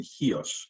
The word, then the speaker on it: Chios: and hios mastia and hios yes uh in fact you see hios spelled a lot with a CH in fact I think